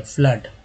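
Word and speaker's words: flood: फ्लड के लिए देखिए स्पेलिंग एफ, एफ हो गया, एल डबल ओ डी में फ्लड में डबल ओ को क्या बोला गया है, तो आ बोला गया, फ्लड। तो ये चीज़ है।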